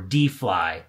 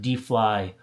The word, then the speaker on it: Defly: uh Deli Network or defly I'm sorry I never know how to pronounce it d e fli so I guess that's defly uh the defly network which was def.